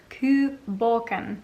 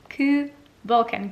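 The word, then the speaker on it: Cù Bòcan: where it is made so ku borken really bugs me when people pronounce things incorrectly so i felt the need to correct myself ku vulcan ku means dog and balkan meaning ghost so hopefully now try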